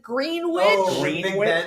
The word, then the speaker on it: Greenwich: Is that how you pronounce it? Green witch. Greenwich. You got it right. I got it right, but now I have to get it wrong because I'm a proper American. Green witch.